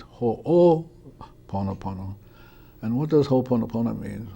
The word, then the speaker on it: Ho'oponopono: going to tell you the correct way to pronounce it it's ho oh ponopono and what does hoponopono mean hoponopono means to